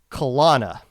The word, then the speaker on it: Kalana: Kalana. Yep, no, that's how I go.